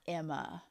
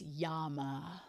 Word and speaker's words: Yama: oh the third eye it's not Emma it's Yama oh okay creepy so